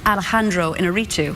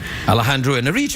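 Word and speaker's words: Alejandro Iñárritu: I'm not exactly sure whether I get the pronunciation right every time, but it's Alejandro Inarritu. Alejandro Inarritu.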